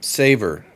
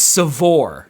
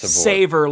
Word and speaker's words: Savor: Um, Saver. Capital One Saver. It's Seavore. Sure. Like I'm saying it phonetically. So they know it's savor like savoring food.